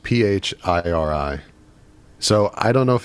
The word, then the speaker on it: Phiri: So it's pronounced Phiri.